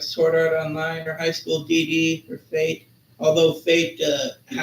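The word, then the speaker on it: High School DxD: The X is silent.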